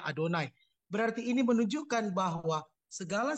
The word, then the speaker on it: Yahweh: nama Tuhan sendiri yaitu Kalau ditulis Itu kan Yahweh tapi kita bacanya adonai berarti ini menunjukkan bahwa